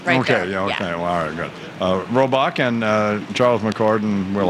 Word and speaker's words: Robach: F they are amy robach and we've been mispronouncing your name just said it right okay robach and Charles McCord and we'll all be back